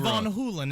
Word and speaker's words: Van Halen: hagar and uh rajeev rajiv von hulen is actually how it's pronounced i'm going david